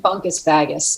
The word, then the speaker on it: Bungkus Bagus: instagram it's uh b-u-n-g-k-u-s-b-a-g-u-s-l-a but it sounds like bunk is baggis l.a just a good girl